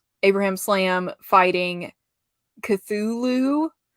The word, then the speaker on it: Cthulhu: it's Abraham Slam fighting Cthulhu with it spelled like Lou, and I love that.